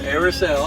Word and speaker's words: Airis: So it's pronounced Airis.